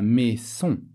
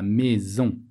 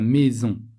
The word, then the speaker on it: maison: Quand le S se trouve entre deux voyelles, on le prononce Z. La maison.